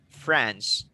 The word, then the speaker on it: France: France. France. Okay, France. You pronounce that France, okay, not French. French is the people, France is the country.